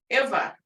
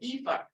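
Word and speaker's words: efv: were talking about was Iva. And I know I brought this up before. Iva, which is dog. I learned Iva, but when I learned, some other people pronounce it Eva with the long E.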